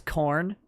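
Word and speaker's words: Khorne: have we'll label him as a there is corn that is b k h oh you like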